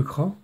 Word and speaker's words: Cras: invention à son inventeur jean cras avec un ps qui ne se prononcent pas et comme c'est